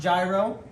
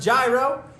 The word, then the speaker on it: gyro: um euros or so depending on how you pronounce it it can be pronounced gyro it can be pronounced gyro or euro i've also